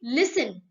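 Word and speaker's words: listen: इस्तेमाल नहीं किए जाते, जैसे लिसन, हम लिसन बोलते हैं ना, सुनो, लिसन में टी की आवाज नहीं आती, हम कहते हैं टी इज a silent letter.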